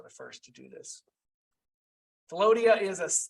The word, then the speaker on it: Philautia: And I believe it's Philodia, spelled Philautia. It's the first in the 7 loves as defined by, I believe the Greeks were the first to do this. Philodia it's self-love.